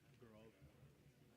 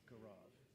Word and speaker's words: Gaurav: Gaurav. G-A-U-R-A-B. Gaurav. Yeah. You spell it so it's easy for me to say it.